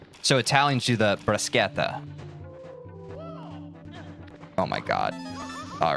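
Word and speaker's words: bruschetta: Italians pronounce it with a K sound, but it honestly doesn't matter. The brasqueta. So, Italians do the briseta.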